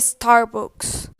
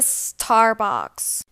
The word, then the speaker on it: Starbucks: pronuncian mal esta marca no se dice start books se dice starbucks no se dice mcdonald's